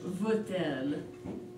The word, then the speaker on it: veut-elle: connect the two words, since elle begins with a vowel, so we pronounce the T in the middle.